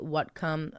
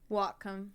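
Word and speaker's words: Whatcom: 3 days after Mandy disappeared, lead investigator Ron Peterson with the Watcom W. It's spelled like what? Whom? Wacom.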